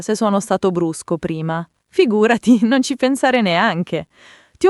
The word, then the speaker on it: figurati: Figurati si dice con l'accento sulla seconda sillaba, figurati. E nella parlata veloce spesso si sente figurai con la te che si assorbe un po', ma l'importante è mantenere quel senso di immediatezza.